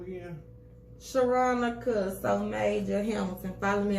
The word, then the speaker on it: Sharonica: Let me spell it for the city. It's SHERONICA. Sharonica.